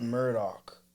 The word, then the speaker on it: Murdaugh: It's spelled Murdaugh, but they pronounce it Murdoch.